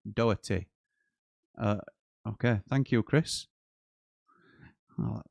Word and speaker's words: Doherty: As an Irishman, there's no C pronounced in Doherty.